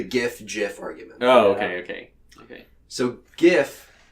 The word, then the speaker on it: GIF: So GIF is pronounced with a soft G, as in GIF, as told by the creator Steve Wilhite.